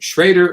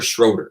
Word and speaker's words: Schroeder: like oh yeah okay it's between an o and an e yeah okay but because